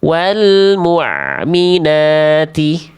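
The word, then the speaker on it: والمؤمنات: Wal mukminati. Wal mukminati. Wal mukminati. Itu ini bukan ain. Ini bukan ain. Kalau ain kan harus ngalir sedikit suaranya. Kalau Hamzah sukun apa? Putus.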